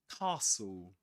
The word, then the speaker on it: castle: Castle. Castle. We don't pronounce the s nor the the e sound here. Sorry. Sorry. I meant to say we don't pronounce the t sound.